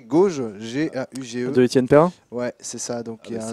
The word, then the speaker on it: Gauge: s'appelle ça s'écrit gauge G a u g E ouais c'est ça donc un jeuulain merci Falcon pilote paré de ok donc donc gauge donc jauge comme le prononce son créateur dis sur Steam c'est